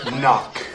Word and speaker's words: knock: Now, come up and spell the word knock. Spell the word knock. N O C K. Knock. No, there's a K. You don't see how just because you can't hear the K doesn't mean it's not there.